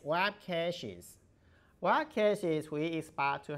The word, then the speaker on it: caches: the pronunciation of the current word cash as CS cash but currently we don't talk about money don't talk about cash so it's web caches web caches we expect